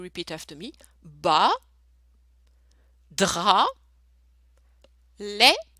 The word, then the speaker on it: lait: Bas, drap, lait, so AI is the sound E, lait.